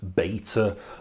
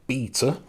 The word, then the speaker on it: Beta: Of course, I'm talking about beta versus VHS. Now, I pronounced it beta there because this is a tale that's often told from a US perspective, where it was a